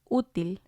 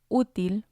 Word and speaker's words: útil: And then we have útil, útil, which means useful. And again, it has 2 syllables. And we see the accent on the U, so we're going to stress that one, útil. Otherwise, it would have sounded like útil, útil. And again, it doesn't make sense.